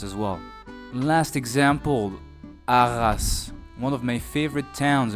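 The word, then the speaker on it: Arras: The e is silent as well. Last example, aras. One of my favorite towns in France personally in the north of Paris. Let me say it again. Aras.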